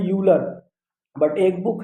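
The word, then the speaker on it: Euler: ई आर, ये है, इसे पढ़ते हैं यूलर।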